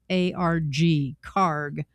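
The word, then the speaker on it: Kharg: The first would entail seizing or blockading the Karg Island, and it's spelled K-H-A-R-G, Karg, Iran's key hub for the export of oil.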